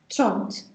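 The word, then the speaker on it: trente: Make sure you do pronounce, everyone, tront.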